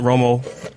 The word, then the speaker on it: Romo: What's up with Tony Romo? He's not a winner, man. He's not a winner. Look, I love that his last name rhymes with Homo.